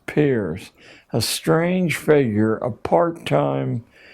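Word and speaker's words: Peirce: has produced he was it's pronounced peer but it's spelled as if it were Pierce Charles S Pierce a strange figure a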